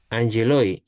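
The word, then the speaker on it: ἄγγελοι: No, Cuando tiene esa doble gama, como esa que allí. parece que llega, se pronuncia como NG. Angeloi.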